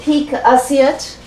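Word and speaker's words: pique assiette: Isn't this called peak assiette?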